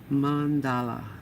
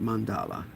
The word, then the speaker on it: mandala: Mandala. That's how you pronounce it. Mandala. I say it wrong a lot, so forgive me.